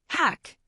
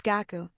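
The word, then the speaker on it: 学: Okay, the word for study. In Chinese, it's che. In Korean, Hack. And in Japanese, it's gaku.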